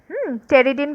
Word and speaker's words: pteridin: আর এর মধ্যে টেরিডিন বানানটা তোমরা এখানে দেখতে পাচ্ছ। দেখো PTERIDIN, টেরিডিন। পিটা কিন্তু সাইলেন্ট থাকে।